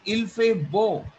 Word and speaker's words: il fait beau: ब्यू तो होता है ड्रिंक. यू नो l'été, ब्यू क्या होता है? रुको शिवम. ब्यू क्या होता है? ड्रैंक. आप लोगे इल फे ड्रैंक, कुछ बना ही नहीं. बच्चे, pronunciation has to be strong. Il fait beau.